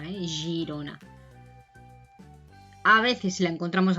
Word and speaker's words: Girona: U, pero por ejemplo, si tenemos la letra G delante de una I o una E, se pronuncia G, Girona, no sería Girona, Girona.